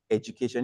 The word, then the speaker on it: education: So the word is not education, it's pronounced education. If you look at the transcribing, you will see something that looks like a J.